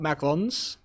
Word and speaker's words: macaron: And I think a lot of people talk about macarons, and I have to say them like that because that is the correct pronunciation.